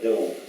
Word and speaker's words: Domesday: The Book of Doom is not about that. It's really called the Book of Dome. It's D-O-M-E. But you guys pronounce it Doom because it's a play on words, because in 1081, the conqueror,